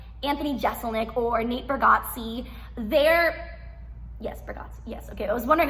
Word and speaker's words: Bargatze: Like as an example, if I'm watching Anthony Jeselnik or Nate Bargatze, Bargatze, yes, okay. I was wondering if I mispronounced his name.